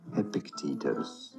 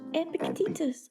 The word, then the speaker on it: Epictetus: It is normally pronounced as Epictetus. Epictetus.